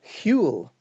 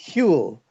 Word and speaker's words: Whewell: it is Whewell, and there's a sort of a breathless, sort of breathy So kind of beginning. repeat it, please. Repeat. Whewell, Whewell. Whewell.